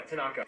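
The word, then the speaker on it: thanaka: You forgot to mention that Tanaka, am I pronouncing that right? Yeah, Tanaka.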